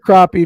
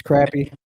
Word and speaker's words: crappie: Yeah, you said crappie. If you've ever watched me before, you know it's crappie. All right, there's a few things we do right in Georgia, and it's the way we pronounce our fish.